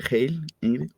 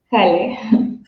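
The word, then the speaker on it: Halle: Se pronuncia Hale. Jale. Jale. Sí, sí. el el alemán no es tan tan sencillo.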